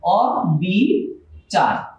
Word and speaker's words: অবিচার: সুতরাং এই নেতিবাচক শব্দের আদিতে যে অ রয়েছে এই অটা এখানে চেঞ্জ হবে না, অই উচ্চারণ হবে অবিচার।